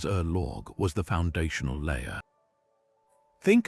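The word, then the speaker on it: ørlög: Org pronounced roughly as Erorgg was the foundational layer.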